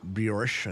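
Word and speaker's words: brioche: it the original quote let them eat bjorish I think it's pronounced b-r-i-o-c-h-e comes from the French philosopher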